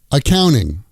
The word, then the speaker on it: accounting: Accounting, accounting becomes accoun-ing.